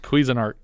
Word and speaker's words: Cuisinart: video i wasn't listening it's pronounced cuisinart kate is showing them